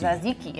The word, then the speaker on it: tzatziki: So the TZA, it's the silent T. Okay. silent T. Tzatziki. Tzatziki.